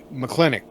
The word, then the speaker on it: McClintock: okay oh please help it's McClintock it's just kind of one word she's from Clinic it's not a whole lot of emphasis on anything they're just almost sounds like there aren't any syllables of its up got